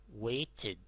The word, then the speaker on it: waited: If the verb ends in t or d, when you add ed, it is pronounced id. Wait, waited.